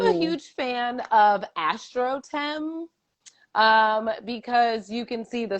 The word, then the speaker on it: Astrotheme: So Tennah, Clodocin, that the pronunciation is AstroTem.